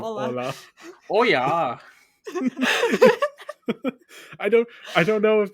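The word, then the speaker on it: hola: double L, so it would be pronounced Oya instead of Ola.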